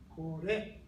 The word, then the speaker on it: これ: Native English speakers tend to say kore or sore or kono or koko. Now, from here to here, it's all lower pitch to higher pitch. Kore, kono, koko.